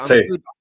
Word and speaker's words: Tay: I think it's pronounced Ty or Tay. Sorry, Tay. How you doing? It was good, Terry. Yeah, it's Tay.